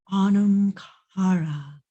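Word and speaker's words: anam cara: It's pronounced Onum Cara, Onum Cara. It's very breathy.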